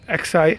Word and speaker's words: Xi: in Doordarshan, she said XI means 11 Jinping. No, it's not 11 Jinping. You pronounce it XI as Xi. It is Xi Jinping.